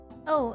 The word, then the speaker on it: を: By the way, this O and this O are pronounced exactly same. No difference.